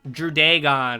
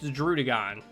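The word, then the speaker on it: Druddigon: right they're okay droodagon i hear a lot of people pronounce this wrong they go like drudaegon or dr drudigen it's droodagon first off um but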